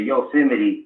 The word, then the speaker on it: Yosemite: the tribe the yo the yosemite basically is how you pronounce it i mean those who